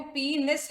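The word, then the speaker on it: penis: External genitalia जो होता है बच्चों, इसी को हम पीनिस बोलते हैं, ठीक है। इसका प्रोनाउंसिएशन जो है वो पीनिस है, इट इज नॉट पेनिस।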